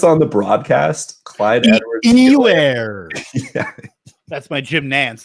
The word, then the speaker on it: Clyde Edwards-Helaire: How do they pronounce it on the broadcast? Clyde Edwards-Helaire.